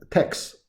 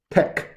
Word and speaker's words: TeX: The pronunciation, do not pronounce TeX. Do not pronounce x. TeX. That's it. TeX. Yeah, because the designer wants to make that pronunciation. Okay, so we have to follow the creator's way.